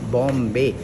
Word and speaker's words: Bom: पुर्तगाली भाषा में इसे बॉम कहते हैं। आपको बताने की ज़रूरत नहीं है, 24 साल पहले मुंबई का क्या नाम था, बॉम्बे, उसी तरह चर्च का नाम जुड़ा हुआ है।